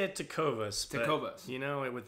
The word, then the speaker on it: Tecovas: say they are the brand I say it to covas kotoba you know it with the action on the second syllable but I think it's up to interpretation